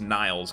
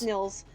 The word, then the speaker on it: Nils: Yeah, his name is, I assume it's pronounced Nils, but it was written like, so I don't think it's Niles, because that would have an E, but Nils. Yeah, that's Nils.